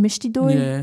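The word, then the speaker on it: mishti doi: doy that you have is it pronounced mishy DOI yeah so you have that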